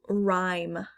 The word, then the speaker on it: rhyme: with the silent gh next is rhyme rhyme i don't hear the h at all but it's there silent h soften soften don't